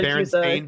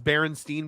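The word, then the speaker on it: Berenstain: I I legit like that's a barenstein bears thing for me actually bar stain bears and everyone everyone thinks it's Baron stein bears yeah it is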